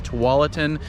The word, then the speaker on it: Tualatin: map you know they don't know how to pronounce it it's tualatin just so you know you know for future